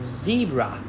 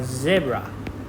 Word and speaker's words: zebra: For example, zebra or zebra. Zebra is a British way of pronouncing this word, while zebra is the US way and also popular in the UK.